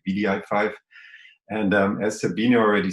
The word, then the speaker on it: wdi5: playing the ball um about vdi5 it's not wdi5 because nobody can pronounce the w all the time so we decided to pronounce it bdi5 and as sabine already